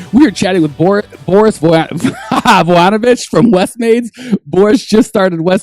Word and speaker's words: Vujanovic: So it's pronounced Voyanovich.